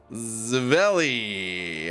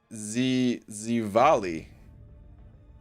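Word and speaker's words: Živjeli: Saying Zavelli. I probably messed that up. Which is... I feel like this one pronounced Zivali. I think it's pronounced. Is the Croatian word for cheers.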